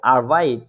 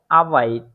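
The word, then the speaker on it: Arbeit: আরবাইট অর্থ কাজ আরবাইট কিন্তু এই আরবাইট এর সঠিক প্রোনাউন্সিয়েশনটা হচ্ছে আবাইড আবাইড সুতরাং এইখানে এরটা আই এর মতই উচ্চারণ দিয়ে যাচ্ছে বা ওই যে এরাবিক যে আলফাবেটের ইয়াটা আছে ওইটার মত উচ্চারণ দিয়ে যাচ্ছে এখানে আবাইড ঠিক আছে এর এই বিষয়টা এখন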